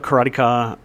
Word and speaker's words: Karateka: It's Karatica because it's karate. No, but Jordan Mechner himself says it both ways.